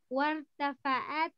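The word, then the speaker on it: وارتفعت: Wartafa'at. Alif is silent. War. Wartafa'at dazaratu hararati.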